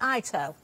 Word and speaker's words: Ito: Is it Ito, the papers? Is that how we pronounce it? Ito. Wonderful. Like Japanese your eye? papers. Ah. Like your eye Yeah. and your toe.